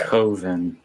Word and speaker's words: Coven: Coven, not Coven. That rhymes with oven.